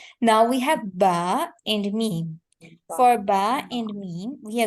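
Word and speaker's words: ميم: So when we pronounce M and M, both the dry parts of our lips are going to be connected.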